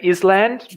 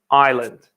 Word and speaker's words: island: We do not say island, no, island. Like the country Ireland, but it's spelled differently.